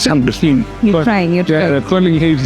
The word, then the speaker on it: Saint-Domingue: I think your pronunciation correct. It's Saint-Domingue.